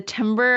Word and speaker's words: timbre: the the tone the timbre of your refactor song we got a number yeah that's one of those words that is in no way pronounced like it's spelled and it confuses everybody